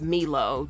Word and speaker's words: Milo: With, I think his name is pronounced Milo, the guy that plays Jack on This Is Us.